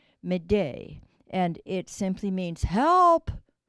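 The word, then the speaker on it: m'aidez: And it really comes from the French word, which is, I'm not sure if I pronounce it correctly, but it's Médée, Médée.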